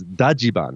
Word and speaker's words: Dajiban: in Japan known as daian which is the Japanese pronunciation of Dodge van that's the best part